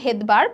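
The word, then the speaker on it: Svedberg: জিনিসটাকে আমরা হচ্ছে ভেদবার্গ, একটু খেয়াল করব উচ্চারণ কিন্তু ভেদবার্গ বা ভেদবার্গের নামের শুরুটা হয় কিন্তু এস দিয়ে, উচ্চারণ কিন্তু ভেদবার্গ বাট নামের শুরুটা হয় হচ্ছে এস দিয়ে।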